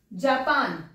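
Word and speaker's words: Japon: Italy okay next अब जापान जापान की spelling गलत है बताओ फ्रेंच में जापान को जाप बोलते हैं क्या बोलते हैं जाप जा प जापो मैम कितना फनी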